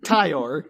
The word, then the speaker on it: Tyor: I keep want to say Tor, but it's not for Tyler. It's Tyor. Like Tyer, but with an O.